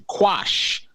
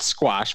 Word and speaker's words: quash: a Los Angeles judge to quash, not squash, but quash. Is that spelled with a K?